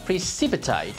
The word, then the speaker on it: precipitate: The verb precipitate is to make something happen suddenly or sooner than expected. This word is stressed on the second syllable.